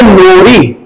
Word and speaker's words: RNOR: तब आप हो जाओगे नोरी। क्या? रेसिडेंट उसमें नोरी मतलब क्या? RNORI, इसमें R साइलेंट है।